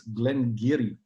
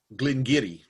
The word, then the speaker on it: Glen Garioch: distillery making it, and they are quite adamant it's Glen Garioch. Glen Garioch. Yes, Giri.